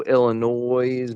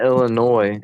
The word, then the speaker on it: Illinois: It's not Illinois. It's Illinois. You're the third person I've ever heard call it that. Everybody else I've heard they pronounce it with a silent S at the end.